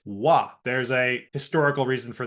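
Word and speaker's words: は: Also note that when it's used as a grammatical particle, the hiragana for ha is actually pronounced wa.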